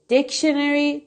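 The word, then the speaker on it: dictionary: بگم این هستش که این کلمه دکشنری دقیقا همین طوری که من تلفظ می‌کنم خونده میشه یعنی استرسش روی قسمت اول یا سیلاب اوله پس میگی پور دکشنری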